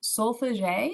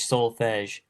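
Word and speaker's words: solfège: So hopefully I pronounce this right. Should solfege, is that right?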